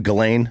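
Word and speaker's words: Ghislaine: Galain.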